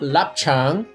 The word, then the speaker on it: lap cheong: Well, we were talking about lap cheong.